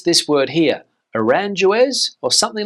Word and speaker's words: Aranjuez: Aranjuez or something like that? Well, in Spanish, the pronunciation is Aranjuez.